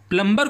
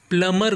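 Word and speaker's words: plumber: क्या प्लंबर जी नहीं आप प्लंबर को फोन नहीं करते आप फोन करते हैं प्लमर को किसे प्लमर क्योंकि इसका सही प्रोनंसिएशन प्लमर होता है ना कि प्लंबर क्योंकि पी एल यू एम बी ई आर में बी साइलेंट होता है इसे पढ़ा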